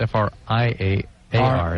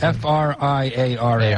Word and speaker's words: Friar: And Friar is spelled F-R-I-A-R. F-R-I-A-R. It's not Friar like F-R-Y. No, it's Friar like Friar Tuck.